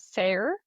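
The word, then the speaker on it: Sayre: It's s a y, but the phonetic pronunciation was sir.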